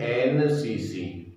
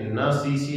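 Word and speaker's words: NCC: आगे एन एन सी सी, इसे न सी सी नहीं बोलेंगे, इसे हम बोलेंगे एन सी सी, तो एन, तो एन,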